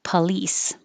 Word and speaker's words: police: noun or a verb the stress is still on lease police and police no difference unlike other noun verb